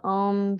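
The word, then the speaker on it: ॐ: chanting the sound of om three times together there's three syllables ah o and um with the lip sealed let's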